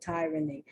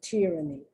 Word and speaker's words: tyranny: talking about the short why you hear people pronounce the tyranny but the correct pronunciation is tyranny sorry for the sound for the noise oh